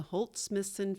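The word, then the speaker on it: Holt/Smithson: In reading Yayoi's bio, the correct pronunciations of 2 mentions are Takashi Murakami and the Holt Smithson Foundation.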